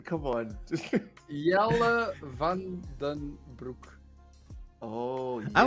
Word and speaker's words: Jelle: And then there's oh my god, I think I'm gonna mispronounce this, but I'm gonna try it. Is it jelly?